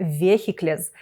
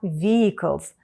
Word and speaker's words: vehicles: Ленд мілітер-війкал Увага друзі ключове слово нашої теми вікенс вимовляється не вєхітляз не вихід лес не віхайклз А вікелз будь ласка запам'ятайте це